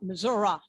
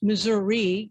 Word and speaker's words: Missouri: Missouri, ra, ra, ra, in an effort to have you all understand why it's pronounced that way. It's also pronounced that way because we're named for the Indians, just the way one does not say Miami, but Miami, hence Missouri.